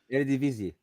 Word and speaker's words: Eredivisie: Eredivisie.